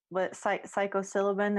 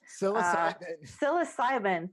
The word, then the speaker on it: psilocybin: I think that all we need is a little psychosilibin. Is that how you say it? Psilocybin. Thank you.